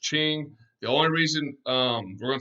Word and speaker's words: Qing: Now, after them, all right, is the Qing Dynasty, spelled Qing. It's pronounced Qing.